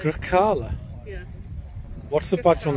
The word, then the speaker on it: Grecale: So I'll try and drop my Yorkshire accent and put my Italian one on for a moment, and it is the Grecale. The what? Grecale. Grecale?